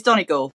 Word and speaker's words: Donegal: So it's Donegal, for those who don't know.